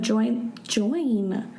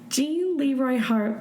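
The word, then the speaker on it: Gene Leroy Hart: On July 5th, a man that fit the description of Join. Why do I keep saying its name wrong? Jean Leroy Hart was spotted near the campsite.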